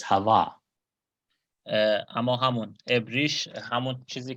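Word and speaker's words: חוה: But in Hebrew the name is Hava.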